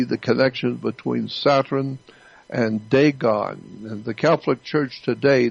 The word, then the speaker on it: Dagon: The Catholic Church, when you see the Pope, he represents the worship of Dagon. It's spelled D-A-G-O-N, Dagon.